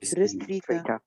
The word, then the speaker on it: restrita: Yes, but you pronounced restrita without R. You said it restrita. Restrita. Is it right, or we can say it restrita with R? Restrita. Yes, Restrita. the correct pronunciation is restrita.